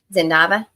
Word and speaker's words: Zava: you too many questions Zava okay so it is the z sound instead of the S sound just checking I don't